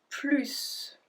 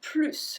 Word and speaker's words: plus: Well, then we don't pronounce the S. It's a general explanation. There's more than just that, but remember this. If you want more, it's plus. If you don't want it anymore, it's plus.